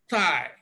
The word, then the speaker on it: thigh: thigh thigh this this now for second language users of the English language you will notice that most people pronounce the voiceless Dental fricative like T and so some people will pronounce this as tha tha right as if they are producing this sound now watch t i e so when some people uh want to produce this sound thigh they will Pro they